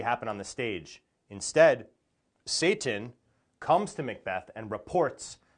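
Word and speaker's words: Seyton: is a character named Satan and this name Satan is spelled s y t n but it sounds the same as this other word in English Satan which means the devil so the fact that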